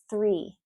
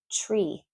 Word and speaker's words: three: Next one, three, three, three. If you don't pronounce the TH, you're saying tree, and that's a different word, right?